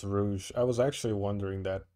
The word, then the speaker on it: Rouge: who intended to pry okay so it is pronounced rouge i was actually wondering that because there's rogue that's spelled g-u-e so it is i guess it is rouge i just didn't know if it had its